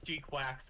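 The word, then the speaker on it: GQuuuuuuX: of Gundam, Gqu Quacks, I kind of hate that it's G Quax because it's not spelled like that like with the like Latin characters, but like that's how it's written in Katakana.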